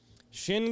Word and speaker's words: Chêne: time it's jeff jones shin gear waiter and shin is spelled c-h-e-n-e yes sir shin gear